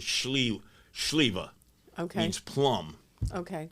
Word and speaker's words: Sliwa: The way it's pronounced is Sliwa.